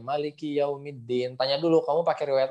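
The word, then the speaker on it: مَالِكِ يَوْمِ الدِّينِ: baunya suwun jadi dia lain gitu ya jadi bacanya Malikiyaumiddin ah Malikiyaumiddin seperti itu kemudian disini adalah huruf Dal yang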